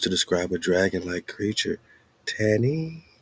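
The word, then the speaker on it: תנין: Tannin, Tannin, pronounced tannin, which seems to cover a broad range of reptilian creatures.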